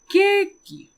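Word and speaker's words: ケーキ: Then we have cake, which will pronounce it as keiki.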